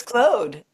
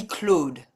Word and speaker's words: Claude: Yeah, it's Claude. Yeah, you said it correctly. Pronounce it as if it's spelled Clode.